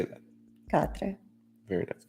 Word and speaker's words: Quatre: Quatre. Very nice. Quatre. Quatre by Boucheron.